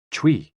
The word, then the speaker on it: chui: associated with the lungs Chui pronounced like Chui with a forceful exhale which is also